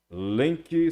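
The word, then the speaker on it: Lemke: Lenk se escreve L-E-L-E-M-K-E.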